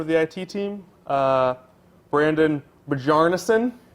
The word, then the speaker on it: Bjarnason: Brandon Bjarnason. Bjarnason? Yeah, it's like Gallarhorn. The J Okay. is silent. Okay.